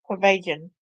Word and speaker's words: Chorbajian: Corbajian. Did I say it right that time? Corbajian.